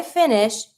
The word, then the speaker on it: finis: If you want to say I finish, you're going to say je finis. Be careful. S is not an R, it's mute. So you're not going to pronounce the S.